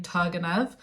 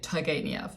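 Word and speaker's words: Turgenev: children by Ivan tev I realized that I've actually been saying his name wrong I was saying tanev but I've been watching quite a lot of lectures about fathers and children recently and all the professors say TV so I'm going to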